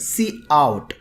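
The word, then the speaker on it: cout: STD standard colon colon to get a output see out the pronounce cre ation of see out is called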